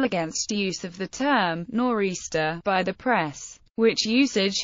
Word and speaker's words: nor'easter: a translation of Aristophanes the term norista naturally developed from the historical speakings and pronunciations of the compass points in the direction